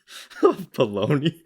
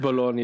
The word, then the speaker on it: Bologna: masks and medical shields for the hospital in Bologna. I want to say it's Bologna. Well, it's pronounced Bologna in Italian, but Americans do say bologna.